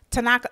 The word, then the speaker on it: Tanaka: Tanaka, am I saying it right?